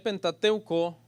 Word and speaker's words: Pentateuco: La serie, hermano, la llamé el Pentateuco y algunos quizás esta es la primera vez que van a escuchar esa palabra. Viene de una palabra griega que es Pentateuchos, así se escribe, pero se pronuncia Pentateuco y significa rollo de 5 volúmenes.